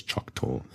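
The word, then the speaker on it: Choctaw: I'm pronouncing that correctly it's c h o c t a w so I'm going to say it is choc Tor uh the CH Tor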